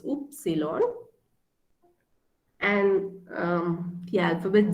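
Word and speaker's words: Ypsilon: way x is x y is oops cylon it's oops cylon and um the alphabet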